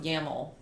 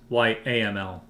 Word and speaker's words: YAML: How do you know it's pronounced YAML? I don't. I'm assuming. It's like a camel, but why? So if I go to YML, it's YAML.